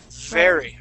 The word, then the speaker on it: very: So your teeth go up on top of your bottom lip. But with the V, we create a vibration saying V. The F is very. Okay, but very.